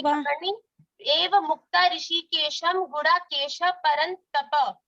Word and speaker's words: परन्तप: संजय उवाच एवमुक्त्वा ऋषिकेशं गुडाकेशः परन्तपा नायोत्सयति गोविन्दमुक्त्वा तूष्णीं बभूववा तमुवाच ऋषिकेश कोई ट्रेन नहीं पकड़नी। एवं मुक्ता ऋषिकेशम गुडाकेश परंतप। तपा नहीं है, ये उच्चारण की त्रुटियां हैं, इस पे ध्यान देना।